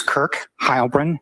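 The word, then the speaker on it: Kirk Heilbrun: My name is Kirk Hybrin. That's spelled K I R K. And then h e i l b ru n.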